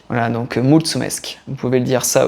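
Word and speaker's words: mulțumesc: une version roumaine c'est multsumesk multsumesk voilà avec le T comme comme pizza ou un TS voilà ça se prononce TS voilà donc multsumesk vous pouvez le dire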